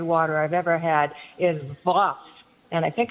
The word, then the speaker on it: Voss: I've ever had is Voss. And I think it's from Switzerland. Really? As in Victory, OSS.